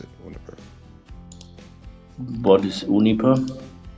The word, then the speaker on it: Uniper: then to go and compete with companies like Uniper in green hydrogen? Sorry, can you repeat it? If you were able to raise the capital, is your strategy to then go and compete with companies like Uniper?